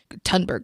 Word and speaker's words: Thunberg: I think it's pronounced Thunberg, but it's with a TH. Thunberg, Greta Thunberg.